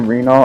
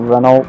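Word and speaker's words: Renault: So, you know, Also, I keep saying Renol. I think that's how I pronounced it way back then. It's supposed to be Reynold, but I know I know I'm a bastard.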